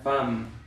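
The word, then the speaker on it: femme: Esta EM en realidad se debería de pronunciar en, nasal, pero después le agregamos una ME, entonces se debería de pronunciar fem. ¿Pero qué creen? No se pronuncia fem, se pronuncia fam, ¿no?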